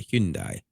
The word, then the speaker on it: Hyundai: And that is, and you can laugh all you want, but Kia and and uh Hyundai, and that's how you say it, by the way, Hyundai.